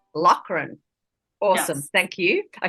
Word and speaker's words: Loughren: So it's pronounced Loughren. Loughren.